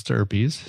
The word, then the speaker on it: stirpes: Yeah, and it looks like stripes, but it's stirpies. It's spelled slightly different.